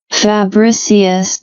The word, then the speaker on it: Fabricius: Let's see this pronunciation again. Fabricius.